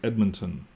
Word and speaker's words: Edmonton: Even here in Edmonton, when you listen carefully, Edmonton, you can hear an I in there.